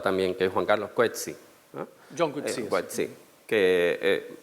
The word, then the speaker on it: Coetzee: Lo que pasa es que se pronuncia Coetzee.